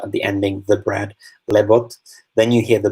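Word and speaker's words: леб: Leb is the word for bread, and it ends in a B when you write it, but you pronounce it like a P because it's at the end of the word.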